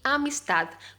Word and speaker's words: amistad: No una sonrisa de escarnio, pero de compasión y amistad. Mira, compasión, como se escribe, lleva tilde, y amistad. Amistad con la T y una D muda.